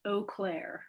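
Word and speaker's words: Eau Claire: Uh, no, but we have it is pronounced Oakclair.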